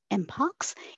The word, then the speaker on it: mpox: recommended that monkey pox be renamed to MPX pronounced as mpox in the state of